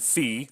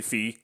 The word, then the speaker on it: Fi: Adventures of Peter and fee that's why I'm gonna pronounce it because it's short for fiora but I'm gonna say fee cuz it just I like the way that rolls off the tongue better this is a interesting